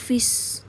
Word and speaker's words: fis: Oke, misal tadi ada F crash, kamu bisa bilang itu F crash atau bisa bilang fis. Oke, akhirannya tambahin is. Nadanya F, tapi karena tambah crash tambahin is. Fis bacanya.